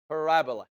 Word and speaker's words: parabola: So the English way of pronouncing it is that you have to put the emphasis on the R. Parabola.